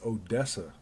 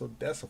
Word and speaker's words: Odessa: like i forgot how they said it but everybody's like they had to spell it out the right way is like no it's odessa what are you talking about it's odessa florida texas yes see my